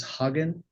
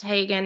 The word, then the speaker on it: Hagen: You do you say your last name is Hogan? No, sir. It's pronounced Hagen and it's misspelled in the document.